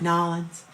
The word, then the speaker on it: New Orleans: So when I go down to New Orleans, I gotta say it right, Nolans.